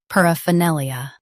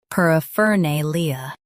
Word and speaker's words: paraphernalia: par a fa nay-lee-a a fa nay-lee-a paraphernalia US stresses nay. UK nay Keep fer soft. paraphernalia paraphernalia Practice repeatedly and you'll soon be able to say this word perfectly.